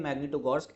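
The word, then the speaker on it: Магнитогорск: वो है आपका मैग्नी मैग्नीटोगोर्स्क, ठीक है, मैग्नीटोगोर्स्क, ठीक है, मैग्नीटोगोर्स्क ऐसा प्रोनाउंसिएशन है।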